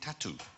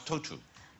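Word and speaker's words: Tautou: because I have always been saying all week tattooed but now we know it's total yeah do you have a I don't but now I know if I wanted a tattoo of total I would say can I have a tattoo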